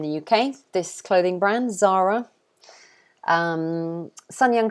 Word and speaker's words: Zara: spanish clothing company so i believe that in spain it would be pronounced something like zara or something like that we do not say it like that i don't know how you guys say it but we say zara zara so we say z and a long r sound zara zara that's how